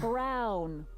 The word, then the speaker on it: Brown: Emmett Brown. Rhymes with clown, which I'm beginning to think you are.